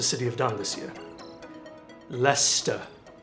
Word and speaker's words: Leicester: have done this year Lester it's pronounced Lester not lie Chester you bloody Americans it's